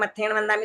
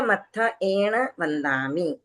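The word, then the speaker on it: मत्थएण वंदामि: ऐसे बोल रहे हैं मत्थेण वंदामी तो यह अलग से मत्थ एण खुद को क्या ज्यादा ही होशियार समझ रही है समझने दीजिए जिनको जो बोलना है बोलने दीजिए आप उसका क्लियर प्रोनाउंसिएशन और सही उच्चारण कीजिए मत्थ एण वंदामि ठीक है चलिए नेक्स्ट पूजा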